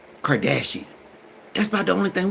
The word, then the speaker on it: Kardashian: Kardashian.